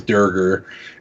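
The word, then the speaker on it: draugr: we don't go back so like they're the draugur in the game which is a D&D reference they initially misspoke and called it the Dierker and so that's canonically how it's pronounced in the game is der ger and that's kind of how a lot of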